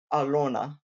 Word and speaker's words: Elena: It's a soft Russian L, but it's something like Alona.